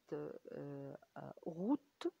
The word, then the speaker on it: route: mots et non accentué، زي مثلا كلمة route يعني طريق، الـ من لم تنطق اللي هي الفينال، ولكن خلتني انطق التي اللي انا سمعتها في الاخر. اخر حرف انا سمعته هو التي.